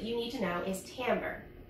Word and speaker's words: timbre: final word that you need to know is Tambor it's felt kind of weird but it's pronounced among TI m vr e and what Tambor is is the unique sound that each instrument